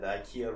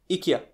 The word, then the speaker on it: IKEA: The IKEA rugs, you get the instructions on how to turn it into...